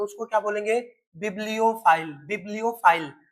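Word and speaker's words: bibliophile: यानी बिबलियो file. और बिबियो की स्पेलिंग भी लिखना।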